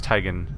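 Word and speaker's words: Tygan: Tyen, which I now know I now know it's Tyen. I was mispronouncing it this entire time.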